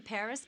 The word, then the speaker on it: Paris: 16% of the people of France live in Paris. Wow. So this is Paris. I can't believe that I've never visited the capital of France before. Yeah. Well, the locals pronounce it Pari.